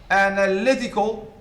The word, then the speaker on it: analytical: to the second syllable analytical stress shift to the third syllable what are the other